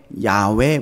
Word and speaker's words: 야훼: 여호와라고 하는 야훼라고 하는이 자음의 정확한 발음은 사실 사람이 들이쉬고 내쉬는 숨소리를 그대로 흉내낸 거라는 거예요 그러니까 이게 그 발음이